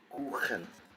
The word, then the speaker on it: Kuchen: When ch is after these vowels, we are going to pronounce it as ch, as in loch, koch, kuchen, kochen. Always that ch sound.